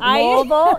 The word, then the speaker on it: Louisville: You said it right, Louisville.